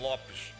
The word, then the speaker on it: Lopes: This To be must fair, gets me yeah, it's Lopes is also not my last name. It would be Lopes in Portuguese. That's the way it's pronounced.